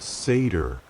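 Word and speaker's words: seiðr: The practice of seir, pronounced seder, the magic the volva performed was considered dishonorable for men.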